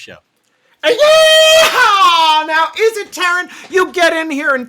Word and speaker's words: Teran: It's Teran. What did I say? Teran. Well, that's how it's pronounced in his universe. Boy, Tearing it up.